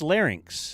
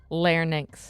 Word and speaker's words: larynx: I think it's larynx. It's larynx. Oh, what did I say? Larx.